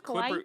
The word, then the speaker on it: Kawhi: It's Kawhi?